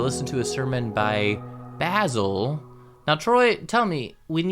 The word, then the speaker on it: Basil: However, in the case of Basil, it is supposed to be Basil, not Basil, which I remember because our